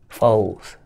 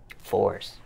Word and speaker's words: LA4SS: Foes. Fours. I mispronounced it. Yeah. Do other people mispronounce it too? Yeah, a lot of people, LA4SS and all that, but it's foes.